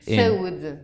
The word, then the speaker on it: saúde: How do you say cheers? Saúde.